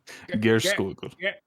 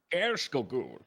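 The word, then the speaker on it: Geirskogul: Gerskogul. Gerskogul.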